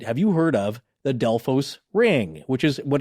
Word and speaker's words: Delphos: actually but i guess the locals actually pronounce it delphis the delphus ring yeah yeah but it's